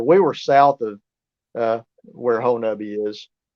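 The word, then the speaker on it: Honobia: It's not Hanobia, it's Honabi. It's not pronounced how it's spelled.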